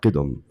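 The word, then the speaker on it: قدم: If you want English spelling, spell it like Qidm, qidam. And hudus like Hudoos, hudus.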